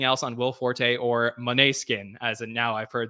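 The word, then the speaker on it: Måneskin: Bill Haskell, anything else on Will Forte or Moneskin, as in now I've heard that's how you pronounce it?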